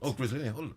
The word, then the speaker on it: Griselinia: Now, caller says, I can grow Griselinia, and apologies for the, I suspect, incorrect pronunciation. No, perfect. Griselinia, right.